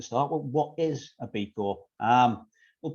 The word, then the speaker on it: B Corp: So B Corp, I pronounce the P, some people don't, is short for benefit corporation.